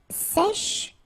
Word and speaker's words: sèche: Un sèche. So this one is a bit tricky. So remember, we've got this E accent grave here, so it's really open.